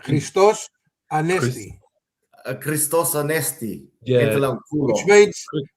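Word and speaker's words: Χριστός Ανέστη: It's I reckon it's I reckon it's Christos Anesti. The X is silent, I reckon. Christos Anesti.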